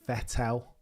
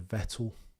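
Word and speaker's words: Vettel: Clarkson always used to say Vetel rather than Vettle.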